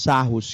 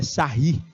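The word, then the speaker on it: Sarrus: o cálculo do determinante pelos sarros que lá pronúncia é sair que é francês o cara olha só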